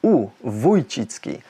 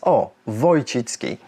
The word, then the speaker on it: Wójcicki: how you spell it well if you spell it with that line above the O then it's vitki without the line it's O vitki so um the English